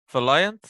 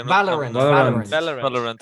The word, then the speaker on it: Valorant: How did you pronounce it, Alan? Huh? Valiant, or what's the game called even? What's the game called, honestly? Valorant.